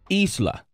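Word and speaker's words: Islah: that's off the new project right yeah it's pronounced isla Isla what does Isla mean it means to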